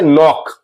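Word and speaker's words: knock: इसी तरह से नॉक, मीन्स के एन वाले वर्ड्स में के साइलेंट होता है।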